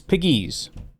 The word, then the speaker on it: Pegues: It's Piggies. It's just Piggies. It's like Piggies, but you put the emphasis on the other side. Piggies.